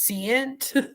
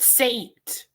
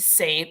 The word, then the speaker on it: Seint: this company here which I thought you pronounced it as cant but then everyone's calling it Saint so I guess it's saint but it's a makeup ml